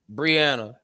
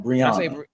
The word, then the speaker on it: Brianna: Tell me how to properly pronounce it. Brianna. Not Brianna.